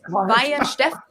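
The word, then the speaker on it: Weihenstephaner: So the pronunciation is Weinstefana, is allowed.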